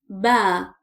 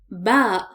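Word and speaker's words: ب: What matters here is the sound of this letter, how to pronounce this letter, which is very easy because it sounds exactly like the letter B in English.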